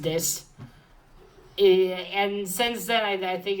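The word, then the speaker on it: Dis: the city of this, D-I-S. Yes, D-I-S. Pretty sure it's pronounced this.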